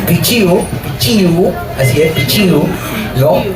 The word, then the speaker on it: pichiu: Pichu dice Pichu, ¿no? Es pichiu.